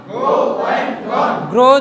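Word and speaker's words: grew: গ্রো জন্মানো, গ্রো, গ্রু, গ্রোন। গ্রো, গ্রু, গ্রোন। আপনার গ্রিউ বলবেন না, উচ্চারণ কিন্তু গ্রিউ করতেন, ঠিক আছে? বলবেন কি? গ্রো, গ্রু, গ্রোন।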